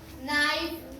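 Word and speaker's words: knife: कोई वर्ड के से नाइफ नाइफ नाइफ के एन आई एफ ई क्या पढ़ा इसको हमने नाइव नाइव पढ़ा के यहां पर साइलेंट क्यों रहा साइलेंट क्योंकि के के बाद ए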